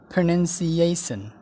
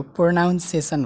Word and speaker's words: pronunciation: प्रोनन्सिएसन, यो प्रोनाउन्सिएसन होइन प्रोनन्सिएसन हो, प्रोनन्सिएसन। प्रोनन्सिएसन।